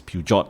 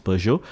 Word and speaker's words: Peugeot: least Peugeot you know uh I used to pronounce them as Peugeot but actually apparently the the correct pronunciation is Peugeot um 55 ownership and um yeah Maybank for